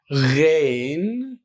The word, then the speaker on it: Ghain: And then we have the letter Ghain, Ghain, Ghain. The letter Ghain is like GH in English, but also we fill our mouth like Ghain.